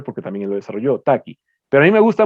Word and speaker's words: Tukey: Este fue inventado por un estadístico que se llamaba Taki, se escribe Tukey, que fue el mismo